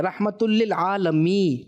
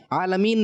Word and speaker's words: رحمت للعالمین: اچھا جی, یہاں پر جو ہے کچھ تلفظ کی غلطی ہو گئی ہے, رحمت للعالمین, ٹھیک ہے, عالمین نہیں.